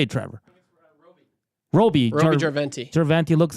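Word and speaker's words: Roby Järventie: Roby Jarventi.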